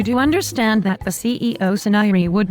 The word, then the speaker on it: Saniri: It is pronounced Suniri.